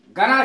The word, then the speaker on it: gonna: जैसे गना, गना शब्द है GONNA, गना। ये गोइंग टू का शॉर्ट फॉर्म है। गना इसका उच्चारण है GONNA, गोइंग टू की शॉर्ट फॉर्म है।